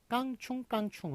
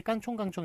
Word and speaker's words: 깡충깡충: 것들을 해보도록 하겠습니다 자 그 예를 보시면 기형인 깡충깡충 우리 저기에 퐁당퐁당 풍덩풍덩 이잖아요 상식적으로 생각해서 깐 총 깐 총이 크게 양성 몸이니까 서로 어울리는 거 맞겠죠 그런데 뭘 표준으로 삼아 씁니까 깡충깡충 을 표준으로 삼았습니다 이런 류의 서는 깡충깡충 1